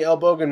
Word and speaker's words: Elbogen: At M-E-E-H-M-E-E is Elbogen, as in this is a bracket, as in the Elbogen meteorite, pronounced with a hard capital G, like Google, dash, not like gen dash, as in generation, right?